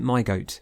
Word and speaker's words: myg0t: there's also my goat I like to pronounce it my goat because when I first saw it that's what I read and so for evermore I now see my goat this doesn't fit into